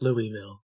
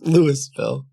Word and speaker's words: Louisville: well I know it's not Louisville it's Lewis it's it's Lewis bill yeah ask miles how